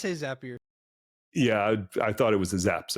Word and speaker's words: Zapier: aspects of my life that I also use, Zapier in my case, or Zapier. And I don't want to debate how you pronounce that because I probably said it wrong. I say Zapier.